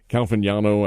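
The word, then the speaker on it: Caglianone: Calviniano, I think is how he says his name. The G is silent in there.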